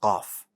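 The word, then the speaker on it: قاف: calf right like a baby cow is pretty close to the uh pronunciation of kaf it's also what a letter that does have air now these two attributes are key into distinguishing between uh pronouncing calf and cough and they're going to help you because off is bold right and it has no error these two attributes are going to help you distinguish the sound of both letters so calf make sure to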